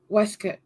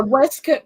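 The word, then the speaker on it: waistcoat: call it a vest you call it a westc yes ma'am yeah yes okay a westc by the way is spelled waste coat it's spelled waste coat but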